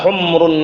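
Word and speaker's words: حُمْرُ: Bacanya bukan humur ya, humru. Memnya disukun. Jangan humur.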